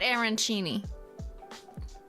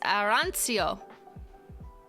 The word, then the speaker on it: arancio: is it Iran SEO it's not arancini yes to be clear this is not Aaron Cheney it's arancio Aran Chio Aran Chio okay okay I'll stop